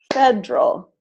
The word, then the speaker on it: federal: So all of these words are pronounced aspirin, average, Barbara, business, camera, different, evening, every, family, favorite, federal, general, interest.